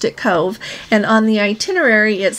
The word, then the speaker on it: Cobh: are going to talk about our stop in Cove Ireland c o BH is how they spell it but when you pronounce it there they can pronounced it Cove and on the itinerary it says that c